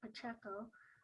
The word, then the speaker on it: Pacheco: the democrat and paul pacheco that's how he pronounces his name looks like pacheco um you know we've got time to do